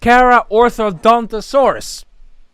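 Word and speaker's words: Carcharodontosaurus: Starting with the car curricodinosaurus. No, it's pronounced karaodonttosaurus, I think.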